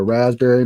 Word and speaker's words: raspberry: they're there, but I'm getting like some kind of like a red berry, like a raspberry maybe. Yep. Raspberry, as I like to say. Pronounce all the letters.